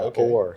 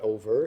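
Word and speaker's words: o'er: so I think yeah or so it's not over it's or there and there's this sidea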